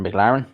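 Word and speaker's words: McLarnin: greatest Irish boxer probably Jimmy mclen or McLaren is how you pronounce it he fought Benny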